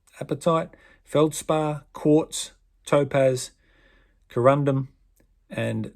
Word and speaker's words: apatite: talc gypsum calcite fluoride apatite no that wasn't a mispronunciation apatite feldspar quartz topaz corundum